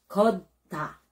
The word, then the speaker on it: 걷다: Minsan po ang pronunciation ng mga ibang mga Filipinos ay gutta. Hindi po 'yon. So ang pronunciation po ay gutta.